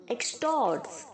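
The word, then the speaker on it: extort: यहाँ पर जो ई के आगे एक्स है बच्चों वो जी की तरह प्रोनाउंस नहीं होगा, जैसे मैंने बाकी वर्ड्स में आपको बताया है। एग की तरह नहीं प्रोनाउंस होगा। यहाँ पे जो ई के आगे एक्स है वो के की तरह प्रोनाउंस होगा, एक्सटॉर्ट।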